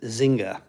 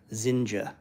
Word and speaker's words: Zinga: Everybody says Zinga, but it's actually pronounced with a J, Zinja.